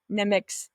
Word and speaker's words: Nemik: So with that, I'm going to play this clip from Nemik's.